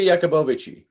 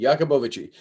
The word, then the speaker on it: Yakubovici: Simka Yakubovici. Simka Yakubovici. Jakub, it's like think Jacob, Jakob. Okay, Jakob. Yakubovici. Yakubovici. Okay, Bovici. Yakubovici.